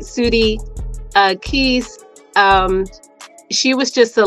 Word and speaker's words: Keese: as a youth my mother and you did pronounce it right suudi uh Keys um she was just a light she was